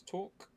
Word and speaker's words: Torek: Just off my world, Torek, pronounced as Torque.